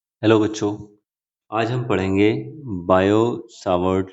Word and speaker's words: Biot-Savart: आज हम पढ़ेंगे Biot सावर्ट लॉ। T silent होता है इसमें नाम में बच्चों, ध्यान रखना।